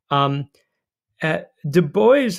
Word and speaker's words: Du Bois: Du Bois on the left, and it is indeed Du Bois, it's not a French pronunciation, and William Monroe Trotter, but also Marcus Garvey.